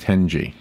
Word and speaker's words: tenji: It's TENJI, but it is pronounced 10G.